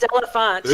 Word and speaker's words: Marie D'Elephant: It's pronounced Delafont.